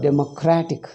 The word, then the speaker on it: democratic: Democracy, when you make it adjective, democratic. Because the stress is in cratic.